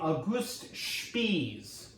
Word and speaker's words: August Spies: And so you have a rally going on, and there's a fiery anarchist from Germany, an immigrant, named August Spies. That's how he pronounces his name.